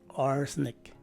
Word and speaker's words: arsenic: of the letter a the letter e is dropped by some speakers as indicated by the open close parentheses in closing that letter and lastly the letter i takes a regular or a short i sound so the proper way to say this word is arsenic again arsenic you gotta